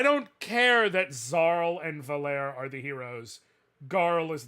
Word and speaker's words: Valere: It is Zale, Garl, we knew those, but it is Valere, not Valerie.